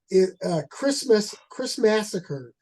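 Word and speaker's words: Christmassacre: Chris Massacre, like Christmas, but it's massacre at the end.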